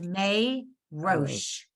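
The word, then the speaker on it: מֵרֹאשׁ: So May is a syllable. The row would be a syllable, but then the shin, what would you do with it? You just go shh. You can't. So it's May Roche.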